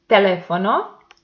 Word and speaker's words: teléfono: Teléfono, the antepenultimate syllable is the stressed one, so it belongs to esdrújulas, and it has the accent mark.